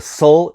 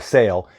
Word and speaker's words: sail: called a headsull now if you're referring to just a sale don't call it a soul it's still a sale it's only a cell if it's a Mainsail or a headsel third term Leeward Lee